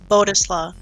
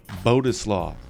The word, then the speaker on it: Bodzislaw: sure how do you say your last name boduslaw boduslaw miss angie it is i say miss andrew